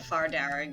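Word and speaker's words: Fear Dearg: they did it but far darag is not spelled like that okay how is it spelt uh far is f-e-a-r and derrick is d-e-a-r-g okay um it means red men in irish ah wow that is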